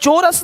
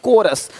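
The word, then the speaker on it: chorus: यहां पे क्या लिखा चोरस नहीं कोरस देख रहे हो शिफॉन यहां पे शिफॉन है शिफॉन कौन है?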